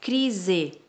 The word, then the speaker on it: crise: Crise. Crise também. Ó, busca o som de Z.